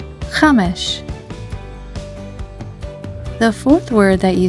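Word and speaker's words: חמש: The third word for today is Chamesh. It's the word for five in Hebrew. Chamesh is spelled with the following Hebrew letters of Chet, Mem, and Sheen. Together they spell Chamesh.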